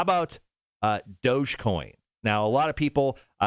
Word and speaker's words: Dogecoin: uh how about uh dogecoin now a lot of people i thought it was dojo like doja cat or you might have said doggy coin at first but dogecoin how do you spell